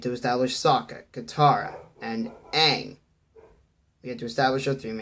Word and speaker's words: Aang: See, to get it, because it's Aang, not Ang.